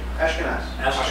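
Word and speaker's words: Ashkenas: The creator of this library does anybody know how to pronounce his last name properly? Ashkenaz.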